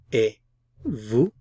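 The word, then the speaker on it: et vous: of asking and you e Vu I'm not pronouncing the t e vu V I'm not pronouncing the S EV Vu a Vu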